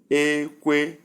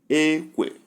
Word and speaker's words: ekwe: Number 12 word is ekwe, ekwe. We have 2 words to look into. Let's consider them. Number 1, high, high, and the sound is ekwe, ekwe, wooden gong, ekwe, wooden gong.